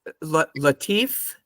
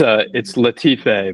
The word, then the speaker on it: Latife: Is it Latif? Oh, it's Latife, Margaret.